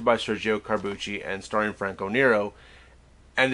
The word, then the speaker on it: Franco Nero: how to spell the name knows the D is silent and walks away because it's Franco Nero uh I I wonder how many people got